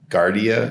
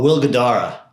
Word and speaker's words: Guidara: Okay, so you just recently wrote a blog post and you were quoting I probably butchered the name, sorry. Is it Gardia? Gard- Gard- Gadara? Oh, Will Guidara.